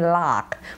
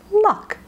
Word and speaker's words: luck: Bosnian first language speakers make sure you're not saying lock but luck luck is different than lock lock the door but I'm lucky today lucky lock lucky lock lock is the long a luck is the schw let's practice the schah